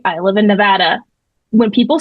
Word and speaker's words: Nevada: I think there's a Nevada, Missouri, if I'm not mistaken. I lived in Arkansas, but that's how they pronounce it. Nevada. It's not Nevada.